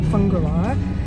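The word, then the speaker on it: Whangārei: heading for tukaka Coast we're leaving whangarei so we know how to pronounce it now fungali um and it's not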